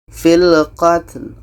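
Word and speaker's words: في القتل: Filqatl, lam terdengar, filqatl.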